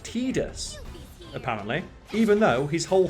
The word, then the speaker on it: Tidus: final fantasy games like titus it's like it's supposed to be pronounced tidus apparently even though his